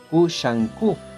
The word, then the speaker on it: Kushanku: Kusanku, se rumora, fue el nombre de un maestro chino que enseñó a Tsukugawa y que se llamaba Huang Shangfu, pronunciado en japonés Kushanku, y ahí hay muchos más ejemplos.